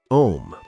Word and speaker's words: Om: On an exhale, chant om, pronounced a u m. Let the sound naturally roll from your belly a through the throat u, and finish at the lips m.